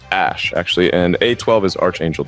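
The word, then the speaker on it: Æ: and that's what came up the AE is pronounced Ash actually and a12 is Archangel 12 the precursor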